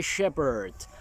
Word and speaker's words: shepherd: The Lord is my shepherd. El Senyor és el meu pastor. Shepherd és una de les poquíssimes paraules en anglès en què la PH no es pronuncia com una F.